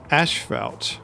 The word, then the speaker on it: asphalt: Asphalt. Or asphalt. I've been told I've been saying that wrong. Well, in the Commonwealth we say asphalt. Like A-S-H-F-E-L-T is kind of how it's pronounced.